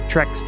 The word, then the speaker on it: Trex: Title of your Trex tape. Rhymes with Bex.